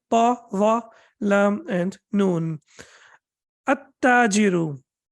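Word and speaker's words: التاجر: At-tajiru. Do I have to pronounce lam over here? Can I say al-tajiru? Can I say that? Al-tajiru. Of course not. Why? Because after lam, we have tashdid.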